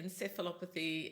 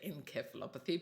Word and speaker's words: encephalopathy: In the US, you say encephalopathy. In Australia and England, you say encephalopathy, but thankfully we all understand each other.